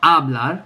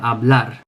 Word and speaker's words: hablar: So like hablar, it's on the last syllable. It's not hablar, but hablar.